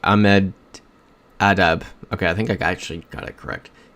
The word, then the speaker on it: Ahmedabad: Ahmedabad. Can't say I know where that is. There it is. India. Yep, Cat's saying India. I think we go for it here. Yep, Cat's saying Ahmedabad.